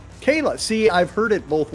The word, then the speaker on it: Kier-La: It's pronounced Kayla. Kayla.